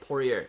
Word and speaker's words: Poirier: my goodness poor rayer poirier okay mcgregor versus pourier interesting not at all man not at all that's how you say it pourier yeah sound right i